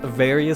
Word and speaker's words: Varia: I think it's actually pronounced Varia suit since we've gotten games with official voice acting saying Varia. That's what I go with.